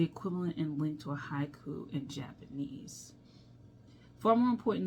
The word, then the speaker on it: haiku: The word haiku itself counts as two syllables in English but three sounds in Japanese counted as haiku.